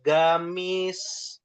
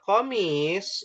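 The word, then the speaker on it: قميص: Karena di kami ee ee gamis itu diambil dari kata qamis ya, huruf qo jadi gek orang Yaman ya.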